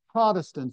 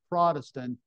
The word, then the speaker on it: Protestant: And among Protestants or Protestants, we don't really have too many Protestants anymore. Do you all pronounce that word Protestant or Protestant?